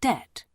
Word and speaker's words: debt: Hargreaves is in an enormous amount of debt. Rhymes with pet, you see, and is deeply worried.